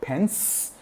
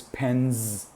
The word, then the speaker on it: pens: How we pronounce the ending of the word. It's not pen, pence. It is pens.